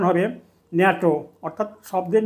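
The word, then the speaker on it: NATO: ন্যাটো এখানে এনটিও এই পৃথক ঘরে উচ্চারিত হবে উচ্চারণ হবে ন্যাটো অর্থাৎ শব্দের না উচ্চারিত হবে একে বলা হয়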